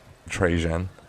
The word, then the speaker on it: Trajan: fits I mean I don't know much about trajan that's how you pronounce his name um I never even heard